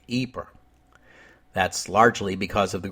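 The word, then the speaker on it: Ypres: have to concede that English speakers usually call the town by its French name eer that's largely because of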